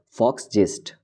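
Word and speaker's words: Volksgeist: Do not confused with this letter V. As you are aware of the German car brand, that is Volkswagen, that started from V also. It is a German word, so we will pronounce it as Fox gist.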